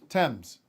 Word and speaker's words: Thames: you land on would river how do you pronounce that river anyway thames yeah why is the eights there is a